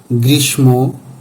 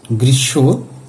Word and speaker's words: গ্রীষ্ম: স ম অন্তস্ত ইত্যাদি এখানে আমরা অনেকেই পদ্মা গ্রীষ্ম ভস্ম বিষ্ময় এভাবে উচ্চারণ করে থাকি। কিন্তু উচ্চারণগুলো সঠিক নয়। প্রয়ত বাংলা ব্যাকরণের নিয়ম অনুসারে সঠিক উচ্চারণ হবে পদ্মা, গৃসব, ভস, বিশ্বয় এরকম।